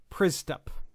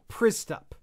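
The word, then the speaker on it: Przystup: William Pristup.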